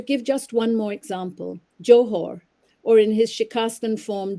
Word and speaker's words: Johor: or cleaning out and when pronounced with the arabic soft h it means essence or substance speaking of the book